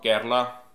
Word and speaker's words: Kerala: लगे हैं, जो कि अगर आप केरला, या इसको केरल भी बोलते हैं इंडिया की स्टेट को, और केरला भी बोला जाता है, केराला भी बोला जाता है, मतलब कि प्रोनाउंसिएशन डिफरेंट तरीके से होती है इस स्टेट की, उसका कोची सिटी है।